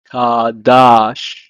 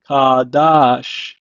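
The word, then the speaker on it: קָדַשׁ: means be holy or consecrate in Hebrew is pronounced as kadash kadash the next word means official Captain Prince in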